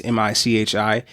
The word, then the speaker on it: Michi: My gem of the week is Borrowed Time by, I think it's pronounced Michi. It's Michi.